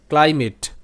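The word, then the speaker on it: climate: জন্য ট সাউন্ড মেট আর শব্দের শেষে ই এখানে সাইলেন্ট থাকবে তো মেট সি এল আই ক্লাই এম এটিই মেট ক্লাইমেট সি এল আই ক্লাই এম এটিই মেট ক্লাইমেট।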